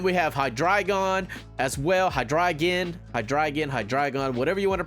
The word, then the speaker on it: Hydreigon: Hydreigon, whatever you want to pronounce. I gotta get used to saying Hydreigon because, you know, like dragon.